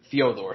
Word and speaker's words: Fedor: I have to say Fedor because some shithead in our comment section corrected my pronunciation of Fyodor. So, I got to make sure that. Are you being serious? Someone actually did that? Some dude came at me, and I'm like, dude, that's literally how he pronounces his own name.